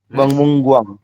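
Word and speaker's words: 박물관: Jadi kita bacanya bukan bak, tapi bang.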